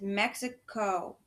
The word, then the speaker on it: Mexico: And our tricky words is Mexico. It's tricky because of the O at the end makes the O sound.